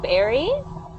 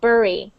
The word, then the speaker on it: bury: Some people pronounce it like bury, but a lot of other people pronounce it like bury.